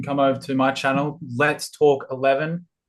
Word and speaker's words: Let's Talk XI: Uh you can come over to my channel, Let's Talk 11. Uh it's pronounced Let's Talk XI cuz Oh, but uh over there we do uh analysis for Tottenham and FP updates.